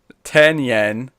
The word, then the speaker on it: Tynion: He's phonetically put in like how he wants me to pronounce Tynion. He's put in Tynion is writing the kind of Batman book I love, and it reminds me of Morrison's in a weird way.